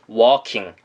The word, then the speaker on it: walking: 그 옆에 있는 걷고 있는 중이라는 walking이란 단어는 이 진동이 전혀 없는 발음입니다. 그냥 우리가 흔하게 모델들이 walking 한다고 하죠. 그럴 때 쓰는 것처럼 walking, walking이라고 발음하시면 됩니다.